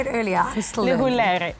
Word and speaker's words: Lehulere: I'm still Lehulere.